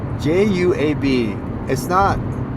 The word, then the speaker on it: Juab: Juab. It's not like H.